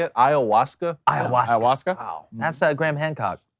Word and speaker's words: ayahuasca: Yeah, well, look, I don't care how much ayahuasca Aaron Rodgers does or how many shrooms he does and then just rubs the carpet. Or Is that how you say it? Ayahuasca?